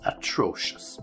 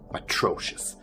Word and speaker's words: atrocious: terrible easy but atrocious atrocious okay just to make sure you get the right stress atrocious so we often use